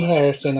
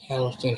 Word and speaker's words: Harrelson: Woody Harrison. I have a hard time pronouncing his last name, but Woody Harrelson here.